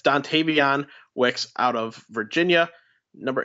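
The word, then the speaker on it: Dontayvion: I say it right stuntavian it's dontavion Wix out of Virginia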